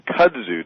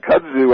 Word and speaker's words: kudzu: Now, this one, Kudzu. Did I pronounce that right? You got it right. Kudzu.